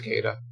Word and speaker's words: Cillizza: person and he said he would prefer to use his pronunciation for his name which is uh just Chris Cada oh he makes a